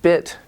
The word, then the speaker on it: bit: the Korean II but your tongue it's longer in English beat and then bit it's shorter but your tongue is more relaxed your tongue is a